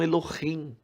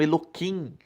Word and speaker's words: Elohim: sua devoção a Deus Eles não falam Elohim eles falam errado Alguns falam Eloim porque eles não podem pronunciar o nome de Deus em vão de forma aleatório então